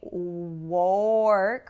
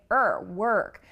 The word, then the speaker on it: work: So it's interesting that in work, we also have that R colored vowel. We don't say work, we say work.